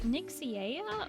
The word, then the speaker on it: Nixia: I just realized, is it Nixia or am I saying it right? Got it right, no worries.